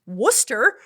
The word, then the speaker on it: Worcester: A city spelled Warchester that's pronounced Worcester. I mean, if you want to be really technical, it's pronounced Worcester. Um, you don't need those Rs in there.